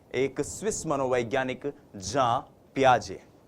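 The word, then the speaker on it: Jean Piaget: प्याजे जी हां हम इनको हिंदी भाषी लोग अक्सर जीन पियाजे जीन पियाजे कहते हैं लेकिन ये जो जीन शब्द है जे ई ए एन जो ये स्पेलिंग है ये स्पेलिंग जो है इसका उच्चारण जब आप स्विस भाषा में करते हैं यूरोपियन कंट्रीज में करते हैं फॉरेन ऑथर्स को पढ़ते हैं तो वो होता है जां प्याजे तो हम भी जां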